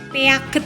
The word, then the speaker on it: Piaget: atau tokohnya itu adalah pijet Muhammad bacanya Piaget gitu itu intinya dia